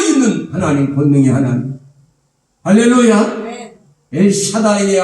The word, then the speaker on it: 엘샤다이: 엘샤다이의 하나님이란 말, 엘사다이라고도 합니다. 강한 발음은 히브리 원문의 엘사다이, 그것은 전능하신 하나님.